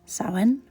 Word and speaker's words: Samhain: Now sin, which is pronounced sin, but it is spelled Sam Hayne.